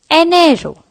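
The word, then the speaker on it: enero: pronounced as an arrow there is an e in the beggining and E in Spanish is pronounced as a so it will become an arrow the second month of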